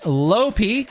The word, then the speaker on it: Lopi: Clarifying, yes, her name is pronounced Lopi, like a very short piss, and is still continuing